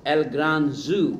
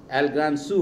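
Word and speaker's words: El gran zoo: মানে এল গ্রান জু ওর ভাষায়, এল গ্রান সু হবে উচ্চারণ।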